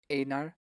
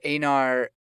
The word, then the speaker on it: Einar: Einar. Yeah. Where Einar tackles the what's his name's son?